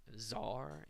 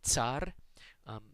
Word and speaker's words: tsar: We say, I think, czar in English most commonly. The Russians say tsar.